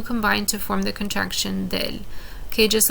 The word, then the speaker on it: del: uh pronunciation purposes so we're not saying de el conductor we're simply saying uh del it runs together it